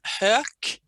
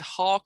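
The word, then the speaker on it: Hök: before i was married my last name was herch which was spelt h o with two dots k and no one english speaking could pronounce that so they said hawk or hook or whatever but um and if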